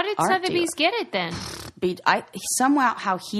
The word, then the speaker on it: Sotheby's: So, how do you say that? Sotheby's? Yeah. Sotheby's auction.